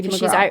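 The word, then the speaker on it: Katie McGrath: Is that how you pronounce Yes. it? Katie McGraw.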